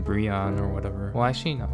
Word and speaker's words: Breone: how you say my name it's brionne not brionne not brown oh okay that's kind of weird but um